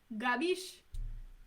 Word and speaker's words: capisci: The C's, instead of having that cheap dura or like that hard C sound, they're going to change it into a G, and that's very Southern Italian when they do that.